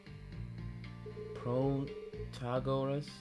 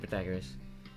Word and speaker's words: Protagoras: uh Heisenberg that's crazy protagoras categories I don't know how to say his name protagonist I'm saying protagoras protagoras that's how you or whatever how could